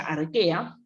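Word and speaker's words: Archaea: dominio al que a que se escriben a rocha a ella pero se pronuncia arquea que justamente también tenía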